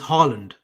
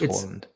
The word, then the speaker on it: Haaland: It's not Haaland, it's Haaland. Even I know how to pronounce it. It's Haaland.